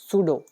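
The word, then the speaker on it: pseudo: इसके बाद हमारा अगला वर्ड देखो ये आ गया सूडो। इसमें पी साइलेंट है।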